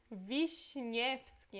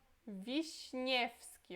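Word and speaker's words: Wiśniewski: Aqui é um pouquinho mais difícil ainda porque entra uma letra polonesa, né? Que não existe em português. Essa letra é Sh, ok? A gente pronuncia como se fosse Sh, tá?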